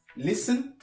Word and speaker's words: listen: Au premier, il s'agira de faire attention à la prononciation de la lettre T dans certains mots comme listen, often, castle, whistle, soften, Christmas, mortgage, gourmet. Voilà comment on prononce la lettre T dans ces mots.